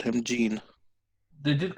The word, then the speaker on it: Jin: But it's spelled to someone Jin, which I've always said Jin. That's true. That's interesting. But he said like his voice was Gene.